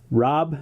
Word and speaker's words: Rob: And remember, Matt, it's not Rod, it's Rob.